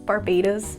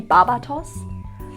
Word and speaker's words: Barbatos: Also the fact that, you know, the god's name Barbados is how they pronounce it. If you pronounce it in the German way, which is what my brain has been doing so much, it would be Barbatos.